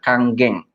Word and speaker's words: Kangen: Makanya kalau orang yang belum tahu, belum lihat edukasinya, biasanya ngomongnya masih kangen. Jadi sebenarnya ini dibacanya adalah Kanggeng. Ya. Jadi kalau di Jepang itu, huruf N itu dibacanya jadi ang.